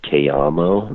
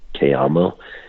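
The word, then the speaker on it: Cayamo: and i'm playing on one and it's called k-amo and it's spelled c-a-y-a-m-o k-ammo and it's an americana music cruise ship and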